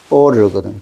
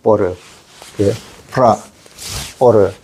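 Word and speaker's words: 般若: 여기 반야를 중국어로 읽으면은 뽀르거든요. 뽀르. 뽀르.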